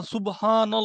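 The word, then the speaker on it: سبحان الله: চিকনের দিকে চলে যাবে দেখেন আপনারা চেক করে দেখেন সুবহানল্লাহ সামান্য গোল করেছি এটা মোটাও হচ্ছে আর যখন গোল করবেন না তখন এটা কি হয়ে যাবে দেখেন সুবহানাল্লাহ।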